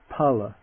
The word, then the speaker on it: phala: the s like phone but it's just an aspirated puh puh the word that means fruit pala to pervade parity parity